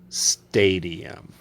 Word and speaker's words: stadium: He works in a stadium. Say the word slowly first. Stadium. That's 3 syllables.